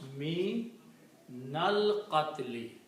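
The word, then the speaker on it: مِنَ الْقَتْلِ: And when you read this together, you pronounce me nal qatli. Okay.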